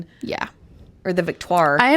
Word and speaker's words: Victoire: or the Viktoir. I am glad they didn't say it how the announcers do. The Vtoar. That's another one that I'm like, Victto is how it should be pronounced.